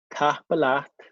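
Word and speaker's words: tapadh leat: Okay, so I said Tapalat.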